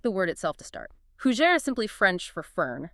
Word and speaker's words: fougère: We are unpacking the fougère, pronounced f o u g è r.